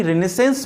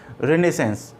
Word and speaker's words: Renaissance: पुनर्जागरण काल में यानी रिनेसेंस में, ओके, पुनर्जागरण काल में, पुनर्जागरण को इंग्लिश में बोलते हैं रिनेसेंस, कई लोग रेनेसा बोलते हैं, रेनेसा प्रोनाउंसिएशन गलत है, रिनेसेंस।